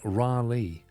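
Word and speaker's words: Raleigh: cucumber that's easy for you to say it's pronounced ralei okay it's pronounced Dallas I think right I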